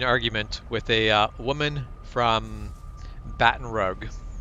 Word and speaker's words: Baton Rouge: woman from Baton Rouge she insisted she was in Baton Rogue she lived in Baton Rogue and it's like you don't argue with a person who lives there in what the city is pronounced but also no no it is not bad in Rogue you you could you